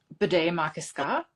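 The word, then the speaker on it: Bde Maka Ska: It's Bidet Makaska. Pretty sure it's pronounced that way.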